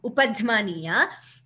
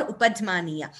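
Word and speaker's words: upadhmānīya: Visarga followed by pa is what we call upadhmaniya. We wouldn't say it is F sound. What is actually happening is we are expelling the air and closing the mouth immediately.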